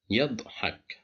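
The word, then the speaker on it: يضحك: Yadhak. Yadhak. Here we have the letter dad with sukun, and the letter ya is before it, controlled by fatha, so that's why we pronounce it as yadhak.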